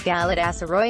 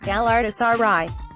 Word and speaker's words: Galatasaray: response often came as Galatasaray and I would gleefully correct them with the correct pronunciation gal artists RI the 2002 World Cup